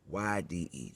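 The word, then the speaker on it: Benzaldehyde: almond and cherry flavor, which was made with basilihide. I think I'm pronouncing that right. Let me pronounce it for you, just in case I'm turning up the word. Benzaldehyd. That's Benzaldehyd.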